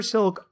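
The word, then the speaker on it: Silke: James R silk that's silk with an e at the end though I don't believe it's pronounced silky I think it is just silk who at the time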